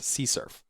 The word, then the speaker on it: CSRF: It's often abbreviated as CSRF and sometimes pronounced CSURF.